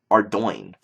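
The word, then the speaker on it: Ardougne: me uh Ard Rouge Arty um ugy even looks correct but it's pronounced Ardo weird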